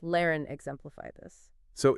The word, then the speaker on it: lehren: Words like fahren, to drive, pronounced fahren, and lehren, to teach, pronounced lehren, exemplify this.